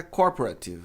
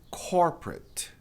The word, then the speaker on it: corporate: Muita gente acha que é corporative, mas é corporate. Ó lá lá essa palavra aqui. O at tem som de it.